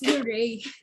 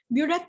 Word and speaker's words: burette: So ang proper pronunciation po nun is burette po, hindi bure. Actually, it's bure. Yung Bisaya man ta burette. Ay, ako. Actually, it's bure. Bure yun na siya, pero burette is actually accepted.